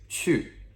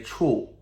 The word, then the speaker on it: 去: Now, it's a little bit tricky to remember, but let's make sure that we don't say 处, okay? Because that's another word completely. So getting that vowel sound, u, is very important in Chinese.